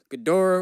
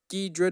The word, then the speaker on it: Ghidorah: movies you got Godzilla Ghidorah or Dedra depending on how you want to pronounce it Rodan Mothra super excited